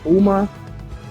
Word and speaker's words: Homa: Homa, that's how you say his name? Max Ho- Homa. That's how you pronounce it.